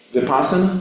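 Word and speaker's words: Vipassana: Vipasana.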